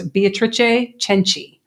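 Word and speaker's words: Beatrice Cenci: maybe one time next it's beatric cheni oh because you got to CH your SE in Italian so very well but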